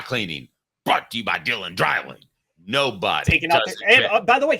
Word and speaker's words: Dreiling: at the same time it's pronounced drying but how do they